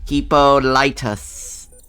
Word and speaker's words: Hippolytus: The right way to say it. Hippolytus.